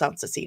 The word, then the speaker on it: Soncasie: Yes, it is pronounced Soncasie, not Soncasie or Soncasie.